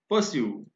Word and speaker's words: pursue: आप देखिए PURSUE को हम परस्यू नहीं बोल रहे हैं, यहां पर भी आर साइलेंट है और इसका प्रोनाउंसिएशन क्या है? परस्यू।